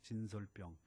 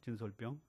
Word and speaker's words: 진설병: 외에는 먹을 수 없는 진설병 진설병 어렵죠 진설병 아까 어떤 분은 전설이라고 읽더라고요 병이 아니 병입니다 진설병이란 돼 있습니다 크리멘 예 거룩한 것입니다